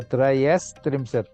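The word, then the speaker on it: त्रयस्त्रिंशत्: Now it is Eka Trimshat, Dva Trimshat, Trayo Trayas Trimshat, Trayas. So Trayas Trimshat it is.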